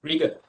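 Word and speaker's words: rigour: have rigor as well r-i-g-o-u-r okay trigger but pronounce it but rigor okay it means that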